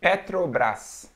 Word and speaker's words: Petrobras: watching us you know how would you pronounce this brand Petrobras Petrobras Petrobras yeah here we say Petrobras Petrobras yeah it's all about the tongue I feel like it's